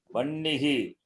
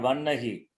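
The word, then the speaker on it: वह्निः: Vannihi. Not vannahi. Vannihi. Hakara, nakara is there. That hakara also you can treat it as nakara and read it as nakara.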